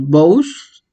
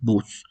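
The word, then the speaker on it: βοῦς: Por ejemplo, tenemos BOUS, lo podríamos leer así, pero realmente su pronunciación es BUS. ¿Por qué? Porque tenemos el diptongo OU, ¿sí?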